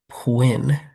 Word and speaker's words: Pwinn: This is I Will Follow You into the Dark by Pwinn. Rhymes with Quinn.